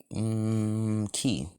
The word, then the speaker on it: qi: cause Deku and Minora infused them with well, ki or QI. That's how it's spelled.